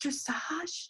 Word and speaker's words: dressage: couple reasons number one the word dressage uh looks like it should rhyme with the word message okay and i guess if you think it's dressage uh the message to